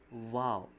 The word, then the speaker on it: Vav: It's pronounced as Vav, and it sounds V, as as vine.